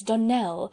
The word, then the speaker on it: Donnell: morning connected with the donald children clarice almira told me that you pronounce our name donal now miss surely the correct pronunciation of our name is donnell accent on the last syllable i hope you'll remember